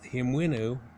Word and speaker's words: Hemiunu: like him is the way it should be pronounced so he him winoo was the son of prince nephromat and his